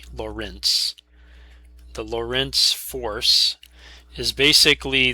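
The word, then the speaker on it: Lorentz: physicists named Lawrence uh with various spellings of pronunciations. This one is L O R E N T Z. Laurance.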